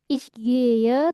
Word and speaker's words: ich gehe: Huruf "H" di tengah kata dalam bahasa Jerman tidak diucapkan. "Ich gehe", tapi 'e' menjadi vokal panjang , kan.